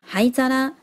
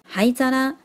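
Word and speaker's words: 灰皿: 烟灰缸是念作 haizara， haizara。这个 haizara 真的做的好写实哦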